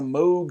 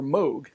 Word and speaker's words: Moog: pieces played on a moog synthesizer although george only plays on one of them so about this mysterious synthesizer the moog was developed by robert moog everyone pronounces it moog but he himself prefers moog so that's what